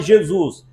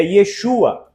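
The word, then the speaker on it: ישוע: Yacobe, assim como Jesus, lá não se fala Jesus, é Yesua, entendeu?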